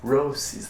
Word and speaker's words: Roces: I keep saying it wrong, I'm sorry guys, it's Roces, that's how you pronounce it.